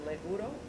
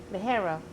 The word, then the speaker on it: ligero: I'm sorry, leguro. Ligero.